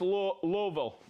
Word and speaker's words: Louisville: No? No, don't say it like that. Louisville. Louisville? Louisville. Just keep going. Louisville. So that's one of those things. You move up in this territory, it's Louisville. All right, we have Bahama Brian, Mr.